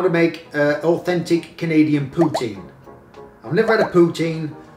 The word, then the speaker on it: poutine: to pronounce a poutine if you're an english-speaking canadian i'm not canadian you'll almost certainly pronounce it poutine i'm english to start poutine i i've always i've always said it like that poutine not putin poutine how to eat a